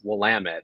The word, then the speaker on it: Willamette: Thank you for knowing how to pronounce Willamette.